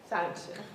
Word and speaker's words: Sonnenschein: Ethan Sonnenschein, I believe. Pretty close. Is that good? Good enough. Okay. Sonnenschein, you pronounce it for me. Sonnenschein.